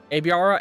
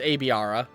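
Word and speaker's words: Aibara: Aviara or a Aara. Aara cuz a I would be pronounced a right an A and an I next to each other. Yeah. So it's Aara.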